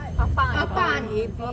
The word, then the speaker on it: Apan: How do you pronounce Apan, A-P-A-N-A, Apan Mudra.